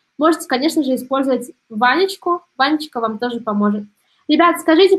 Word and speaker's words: Ванечка: Ванечка, здесь у нас три слога, и получается следующее.